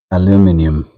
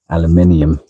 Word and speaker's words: aluminum: Now, I'm just using this Mother's Aluminum polish. There's people with too many consonants, too many syllables in their words would say aluminium. However, aluminum is how we spell it on the side of the water.